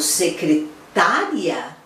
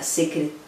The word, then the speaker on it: secretária: Porque quando eu falo secretária, olha lá onde está a sílaba tônica, secretária, é a pessoa que está ali dando conta da secretaria. Opa! Falei já, secretaria. Onde está a sílaba tônica? Secretaria. É no ri. Que é diferente de secretária.